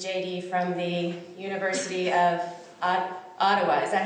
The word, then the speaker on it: Ottawa: He received his JD from the University of Ottawa, is that how you say it? Ottawa, okay.